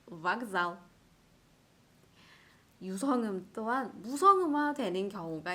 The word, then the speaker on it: вокзал: 같은 규칙으로 вокзал. 이 알파벳 카의 까는 일단 무성음이고요. 이 까의 무성음의 유성음, 짝꿍 유성음은 알파벳 게였기 때문에 마찬가지로 게로 발음을 해주셔야 돼요. vokzal.